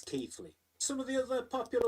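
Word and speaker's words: Keighley: People sick of it being referred to as Keley. And yes, I know that local pronunciation might be a little bit different, but officially it's Keithley.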